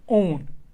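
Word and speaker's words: -one: देखिए चूँकि मैंने अभी आपको कहा इसको ओन प्रोनाउंस किया जाता है।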